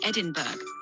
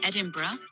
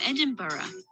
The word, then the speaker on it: Edinburgh: Many non-native English speakers say Edinburgh, which is not exactly how it should be pronounced. Oh. In fact, there are at least a few different ways to pronounce it. Most people in the UK pronounce it either Edinburgh or Edinburgh. Interestingly, many locals tend to abbreviate it simply Embra.